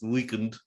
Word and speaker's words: The Weeknd: Weekend, but Oh, it's, they spell it Weeknd, so it's Weekend to that me.